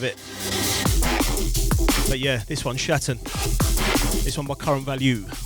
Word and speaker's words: Schatten: I think this is German, so you got to bear with me here. I think it's pronounced Shatten. SCHATTEN.